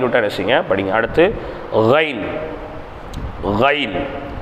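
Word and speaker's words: غين: கைன் தொண்டையின் ஆரம்ப பாகத்தில் உச்சரித்தல். தொண்டையிலிருந்து வரணும். இதுக்கு நாக்குக்கு சம்மந்தம் இல்லை.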